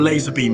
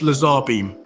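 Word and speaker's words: LazarBeam: laser beam oh okay so either laser or laser beam is correct got it I always thought it was just Lazar beam I feel like I've been living a lie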